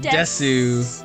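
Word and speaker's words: です: I'm kawaii desu. Sue. Yeah, you don't say the ooh. Sue. Desu.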